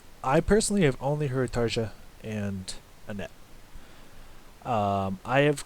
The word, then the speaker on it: Tarja: try to i know her name is pronounced something like tarja or taya like you don't pronounce the day it did the day you don't pronounce the j i like to say tarza just because it sounds it's easier to pronounce on my western ears but i know that's not how you pronounce it throwing that one out